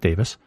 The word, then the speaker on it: Davies: Davis uh Russell T Davis by the way it's spelled Davies but he pronounces it Davis uh he is as